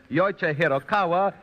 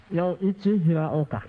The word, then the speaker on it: Yoichi Hiraoka: many taking that announcer's test as Yoichi Hirokawa or Yoichi Hiroike, and a great many other variations, all of which are wrong because, right from the voice of the authority itself, it should be pronounced Yoichi Hiraoka.